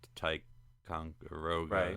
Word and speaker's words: Ticonderoga: news is you know, William Shatner visited the Ticonderoga. That's how you pronounce that.